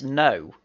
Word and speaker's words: Ngo: At least you got the American bit right, but since when is his last name Ngo? It's No.